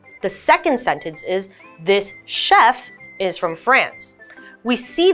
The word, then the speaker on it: chef: teeth so chair the second sentence is this Chef is from France we see the CH letter